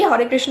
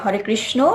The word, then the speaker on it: হরে কৃষ্ণ: তাহলে আশা করি হরে কৃষ্ণ মহামন্ত্রের অর্থ বুঝে গেছেন। এবার বলবো হরে কৃষ্ণ বলতে হবে নাকি হরে কৃষ্ণা? তাহলে সঠিক উচ্চারণ কোনটি হবে, হরে কৃষ্ণ নাকি হরে কৃষ্ণা? সঠিক উচ্চারণ হচ্ছে হরে কৃষ্ণ।